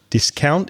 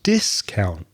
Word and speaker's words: discount: it i'm refusing it so again the stress changes discount is the verb and discount is the noun i'm sure a lot